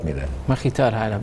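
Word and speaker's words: Mkhitar: Makhitar Arab. Makhitar, not Makhtiar.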